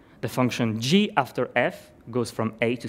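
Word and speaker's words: g ∘ f: and this is pronounced g after f the little round operator is pronounced after so first you apply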